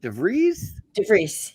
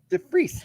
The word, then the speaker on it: DeVries: great guest today how do you say your last name is it devries yep oh that was pretty close to us yeah the freeze with emily's cleaning in